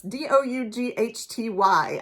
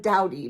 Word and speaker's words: Doughty: That's d-o-u-g-h-t-y. I believe when I introduced this book on my TBR video, I called her Caitlin Dowdy but now after having listened to the book